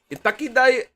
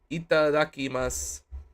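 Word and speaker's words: いただきます: Itakidas. How do you pronounce it? Itakidamas. Itakidakimasu. Itadakimasu.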